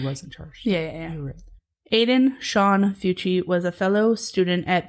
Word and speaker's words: Fucci: the next day 14-year-old Aiden fui is so I'm going to pronounce it that's how you pronounce it Aiden fuchi fuchi or fuchi fi fuchi fuchi he was